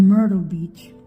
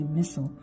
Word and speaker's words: Myrtle Beach: My Myrtle Beach. Finally, I could say it right. Used to say Missile.